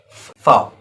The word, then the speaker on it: V: That is fow. V is as fow. Fow. We pronounce as fow, starting with pronunciation with F.